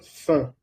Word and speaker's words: faim: Nous avons faim. Nous avons faim. Nosotros tenemos hambre. Nous avons faim. Recuerda la pronunciación de A y se pronuncia E, ¿vale?